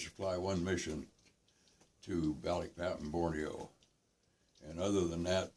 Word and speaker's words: Balikpapan: a crew that had been lost over at Balikpapan in Borneo.